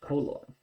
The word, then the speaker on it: color: Looks like color, it is pronounced color.